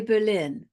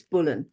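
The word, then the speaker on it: Boleyn: pronounce an's last name well we always say Berlin um it has been uh said that sometimes it's bulling but it could have well been bull could be either and the family the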